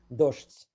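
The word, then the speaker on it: дождь: Dazht. The closest thing that Russian would have similar would be the word for the noun rain, which is spelled the same way except for an o, and it gets pronounced with a sh and a t sound, dozht. So dazht.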